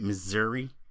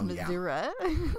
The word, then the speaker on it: Missouri: Missouri? Missouri? Missouri? Yeah, I thought it was Missouri.